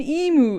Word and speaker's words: emu: if they didn't say i don't know emu like like the little pink pokemon mew and it's an e-girl